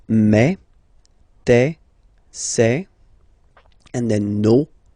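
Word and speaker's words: mes: Okay, so for the phonetical or pronunciation aspect of it, then remember that this es here combined will give you the sound eh. Okay, so you'll pronounce it like me, okay, te, so logical,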